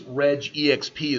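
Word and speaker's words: regexp: regular expressions it's typically its Reg exp is the way that that's pronounced is an unbelievably powerful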